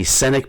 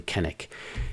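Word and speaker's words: Cennick: It looks like maybe Sennick, but the author claims that you pronounce it actually Kennick.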